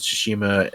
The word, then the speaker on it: Tsushima: uh you said you've been playing some ghosted tsushima uh that's how you pronounce it right yeah yeah you're right and